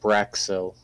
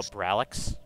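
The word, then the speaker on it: Brallix: Ooh, there's an alien menace in Braxil. Type that for, spell it for me. It's B-R-A-L-L-I-X. Oh, Bralix?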